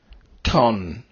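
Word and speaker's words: τόν: Ton is used several times, like in tonic.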